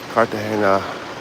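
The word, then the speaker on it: Cartagena: One of the old towns of Kartahena, Colombia.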